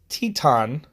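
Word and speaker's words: Titán: I've been saying his name wrong the whole time. It's Teton.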